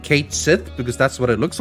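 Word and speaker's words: Cait Sith: they going to say are they going to say catchy or not turns out no they are going to pronounce it Kate Sith in in rebirth it's true um so like yes the mythological thing is called Ki but this one is going to be called kth so there you go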